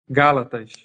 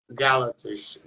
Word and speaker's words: Gálatas: tiver errado galos galact é como que pronuncia o que o livro bíblica é Gálatas Gálatas Gálatas 4:16 fala que